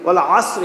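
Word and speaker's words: والعصر: ওয়াল আসরি, আইন দেবার এখানে আইন, আইন আসরি বলেন, ওয়াল আসরি, কারণ যদি কেউ বলে ওয়াল আসরি তাহলে কিন্তু হবে না, আইন দিয়ে বলতে হবে।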